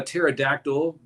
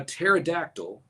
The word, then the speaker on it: pterodactyl: Why can't you hear a pterodactyl going to the bathroom? Going once, going twice. Because the P is silent.